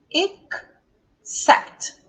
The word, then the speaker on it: except: Então, a sílaba tônica vai ser sempre a sílaba depois do apóstrofo.